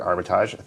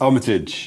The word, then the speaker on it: Armitage: As mentioned, I'm here with the awesome, multi-talented Richard Armitage. Thank you for joining us. You're welcome. Thank you for Frenchifying my name. Oh, did I? Wait, how do you pronounce it? No, it's Armitage. Armitage.